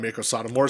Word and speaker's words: Meiko Satomura: Wade Barrett was like tribute to one of the best wrestlers of all time, Meiko Satomura, said it right on commentary.